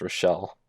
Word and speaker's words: Rochelle: Not Rachel, even though that's what it looked like. It's spelled like it's Rochelle. Spelled Rachel, but it's Rochelle.